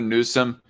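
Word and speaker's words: Newsham: Another Newsom. Well, okay. The Newsom is spelled N-E-W-S-H-A-M, Red Feather. Not the same way as Gavin Newsom in California.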